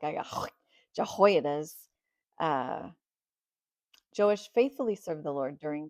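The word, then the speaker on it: Joash: So, um, I did look up J O and it is pronounced Jewish. Yay for the Old Testament. That's all I got to say. Let's go. Joish was only seven when he began his rule that lasted 40 years.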